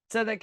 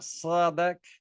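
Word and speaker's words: צדק: They pronounce their tzeds as a ts sound. The z becomes a ts sound. And this is how we say tzadeh. So now we say tzadeh. Tzedek, it's righteousness, not sadek, which is fine, right?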